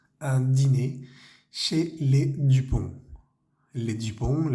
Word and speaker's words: dîner: Siempre tiene ese acento circunflejo sobre la I, pero no cambia nada la pronunciación. Un dîner chez les Dupont.